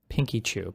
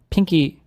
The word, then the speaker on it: Pinkchyu: It is Pinkchyu. Pinkchyu. Pinkchyu. Is there a video with her saying her name? Wait, if it's Pinkchyu, then what was I... Pinky... What was... How was I saying it wrong? What was I saying before? Pinkchyu. Pinkchyu. Pinkchyu. I'm calling her Pinky.